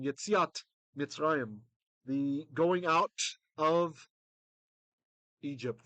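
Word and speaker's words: יציאת מצרים: Yetzia is Exodus, or famously the Yetzias Mitzrayim. That's the Ashkenazi pronunciation. Yetziat Mitzrayim, the going out of Egypt, the going out from Egypt.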